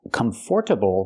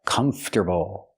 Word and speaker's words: comfortable: Remember, pronunciation, not comfortable, but comfortable. This word has two pronunciations. You can say comfortable, comfortable, but the most common pronunciation in America is comfortable. Comfortable. That's the way we say it.